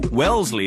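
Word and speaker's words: Wellesley: on Wellsley when Shannon gets to Wellsley as it's pronounced she pulls into the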